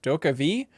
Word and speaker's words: DokeV: But on the official site, they have a whole note here that says, wondering how to pronounce Doka V? Read it as Do-ke V. It's the world where the Dokebi live in, Jeffum.